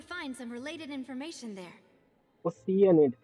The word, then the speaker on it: Oceanid: some related information there oceanid that's how it's pronounced I've been calling oceanid for 2 years now so nervet maintains